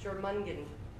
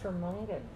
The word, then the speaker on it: Jormungand: Is good luck pronouncing that. Jormungand. Cool. Close? Jormungand, sure.